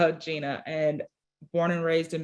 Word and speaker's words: Gina: It's spelled Jenna. Yes, I know, but it's Gina, and born and raised in Milwaukee, Wisconsin.